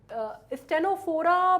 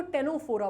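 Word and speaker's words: Ctenophora: है कोम्ब या या स्टेनोफोरा बोलते हैं कई लोग, वैसे कायदे से अगर मैं बोलूँ आपको तो इसको टेनोफोरा बोला जाता है, इसका सी जो है वो साइलेंट है, ठीक है।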